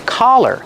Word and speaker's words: collar: Example, this is a collar, and a dog can wear a collar around their neck. Pronunciation, use the sound ah, the open sound ah, like hot and stop. Ka, collar.